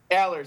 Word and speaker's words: Allers: Aers.